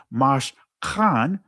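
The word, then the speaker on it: Mishkan: So it was the non-blood descendants coming to the Mash Khan, right? That's the ancient pronunciation, right, of the worship place, Mash Khan, asking to be taught on the Shabbat.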